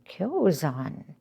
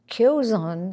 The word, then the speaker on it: Kyozan: Kyozan. And, you know, the Igyo school, I refers to Isan. Gyo refers to Kyozan. The Kyo is sometimes pronounced Gyo.